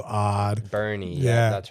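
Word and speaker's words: Boerne: But there's green here, which is spelled odd. Bernie spelled odd. Bernie.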